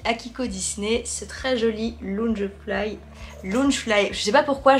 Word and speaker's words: Loungefly: Toujours pour mon anniversaire, j'ai reçu de ma petite Akiko Disney ce très joli Loungefly. Loungefly, je sais pas pourquoi je veux dire Loungefly à chaque fois. On prononce pas le E.